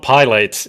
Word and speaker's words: Pilates: Pilates, and my mum was like, "That's No, not how you say it." not plate. It's not plates. It's not pilates. It's Pilates.